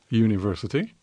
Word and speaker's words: university: So you have to say university. Because it's a ya. Ya sound is the first one.